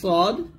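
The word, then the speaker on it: ص: সদের মাখরাজ এবং সিনের মাখরাজ সেম, জিহ্বাটা নিচে দাঁতের সাথে লাগিয়ে সদ এবং সিন উচ্চারণ করতে হয়। তবে এখানে সদের উচ্চারণ বাংলাতে লেখানো যাবে না, সদ মোটা করতে হবে। যেমন সদ ইজ ওভার স বলতে হবে, সদ ইজ এ সই সই বলতে হবে, সদ এ পেশ সো এরকম, সদ এ পেশ সো এরকম উচ্চারণ করতে হবে।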